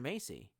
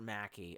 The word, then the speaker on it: Mackey: Macy. I feel like you're some kind of like weird-ass Chinese shill. It's Mr. Mr. Mackey.